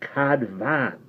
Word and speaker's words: Cadfan: way said David Evans you pronounced that Cod man by the way what F is always a V sound in Welsh Cadman's way no it